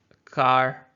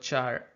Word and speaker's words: char: There's, some people call this car, some people call it char. I'm not sure what is the correct pronunciation, but both of them are fine.